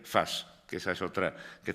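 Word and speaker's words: فاس: franceses lo escriben fez pero en árabe se dice y se escribe Fast que esa es otra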